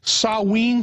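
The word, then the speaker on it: Samhain: the real name I think it was called sawe is that the correct the correct pronunciation that's yeah in in the Celtic British Isles yeah sa it's spelled s m ha a i n but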